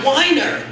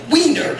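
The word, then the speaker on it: Weiner: r and that's that is supposed to be Wier that's the way it's supposed to be pronounced and I convinced that 46 years of pronouncing his name mispronouncing it weener has affected his mind that first poem was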